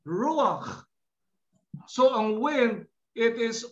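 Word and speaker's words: רוח: If I will pronounce this, I will pronounce this as ruach.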